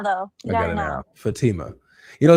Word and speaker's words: Fatima: Fatima. It's Fatima.